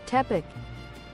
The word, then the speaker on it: Tepic: That is Tepic. I hope I'm pronouncing that right. See the pronunciation of that now. Tic tuk. Tuck. to peek. Tepic.